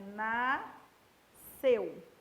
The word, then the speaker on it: nasceu: Em nasceu é um só som, um som C, é nasceu, tá? Então, esse som é um som C, ó, nasceu. É igualzinho a piscina, ó.